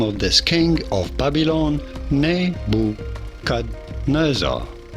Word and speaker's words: Nebuchadnezzar: this king of Babylon nebukadnezar Nebuchadnezzar okay I just learned something I've never been pronouncing the D in nebuchad neb Nebuchadnezzar anyway that's how to say